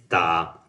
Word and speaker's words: ta: It's like the same when you pronounce ba, you just prolong it maybe after ba sound uh almost 1 second or maybe 1 and 1/2. And this one you can say that ta is the same.